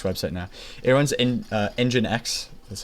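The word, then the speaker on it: nginx: It runs in engine X that's how you pronounce it assisted by my good friend um uh GPT.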